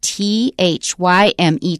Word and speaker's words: thyme: One is thyme. That's the a kind of spice, a kind of herb, not a spice. It's an herb. And it's t h y m e. Thyme.